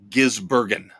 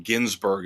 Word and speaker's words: Gisbergen: But Shane Van Gisbergen, very hard name to pronounce. Gisbergen. I keep wanting to call him Ginsburg, of course, after the late Supreme Court justice.